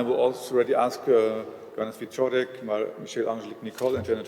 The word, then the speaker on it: Wieczorek: Wieczorek, is that more or less correct as a pronunciation? Wieczorek, okay.